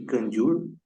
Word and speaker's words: Kangyur: Seu nome, Kanjur, pronuncia-se Kanjur, é o mesmo dado à coleção das escrituras sagradas que contém os ensinamentos de Buda.